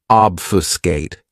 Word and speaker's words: obfuscate: This verb has three syllables and the stress is on that first syllable. Obfuscate.